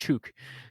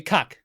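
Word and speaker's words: Ćuk: It's CUK, and that's pronounced Chuk. Yep, exactly. Cuck is how it's. That's not it. It's cuck. No, it's Chuk.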